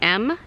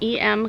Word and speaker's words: Em: another color or two, is the EM, I guess it's pronounced M, Cosmetics True Gloss.